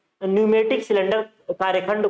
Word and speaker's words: pneumatic: हो गया न्यूमेटिक system न्यूमेटिक में प साइलेंट हो न्यूमेटिक बोलते बारबार न्यूमेटिक सिस्टम प नहीं बोलते हैं प वड नहीं बोलते तीसरा आपका हो गया